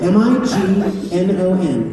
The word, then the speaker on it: Mignon: If you get a fancy steak at a restaurant, it's a filet, Mignon. What is it? Mignon. Filet? Mignon. Say it. What's the second word? Mignon.